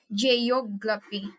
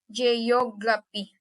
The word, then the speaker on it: geography: The next is word ending in IC. S I O N or T I O N. Stress is on the second to the last. For example is photography. Photography. Geography.